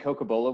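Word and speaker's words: cocobolo: excellent thank you you know tom you mentioned coca-bola wood did i pronounce that correctly yes do you have people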